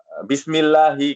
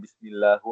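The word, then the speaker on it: بِسْمِ اللَّهِ: Bismillahi. Kenapa dibacanya bismillahi bukan bismillahu atau bismillaha ya? Lafzul jalalah Allah ya. Allah. Ah. Ken karena dia mudof ilaih.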